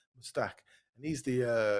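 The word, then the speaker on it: Mostaque: Is it Mustique or is it Mustique, Mustak, Alok? How do you yeah. pronounce it? Mustak.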